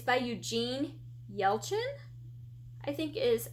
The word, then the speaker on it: Yelchin: i've never heard of um it's by eugene yelchin i think is how you say the last